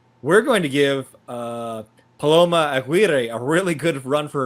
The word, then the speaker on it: Aguirre: And second was Imperial Beach Mayor Paloma, I'm not sure how I say this, Aguirre, yeah.